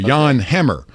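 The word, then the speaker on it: Jan Hammer: and hey John or I I guess you can say it correctly this morning Yan Leavonne the Pa King movie with Jack Black that's how I know how to say this guy's name right but Yan Hammer 77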